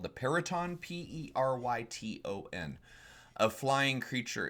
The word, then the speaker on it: Peryton: Peryton, according to D&D5e's pronunciation guide.